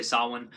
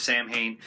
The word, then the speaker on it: Samhain: of be like saawan i'm pretty sure that's how you say it i was taught to say saawan and everybody always says Samhain i think everyone thinks